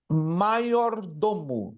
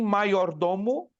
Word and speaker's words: majordomo: Está escrito como majordomo, mas se pronuncia maior, porque o J no latim se pronuncia como I. Então, vem do latim maiordomo, significando criado maior da casa, administrador dos bens da casa.